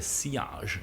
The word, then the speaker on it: sillage: Che non si dice sillage, ma si dice sillage in francese. Come la doppia L si legge come una J.